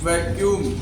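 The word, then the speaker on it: vacuum: अगला है यू और यू, दो अगर यू आ रहे हैं तो उसका उच्चारण कैसे करेंगे। जैसे कि वैक्यूम, शून्य स्थान जहाँ पे वैक्यूम, जहाँ से दो यू आते हैं तो यू का उच्चारण यूए में, जैसे वैक्यूम, वैक्यूम।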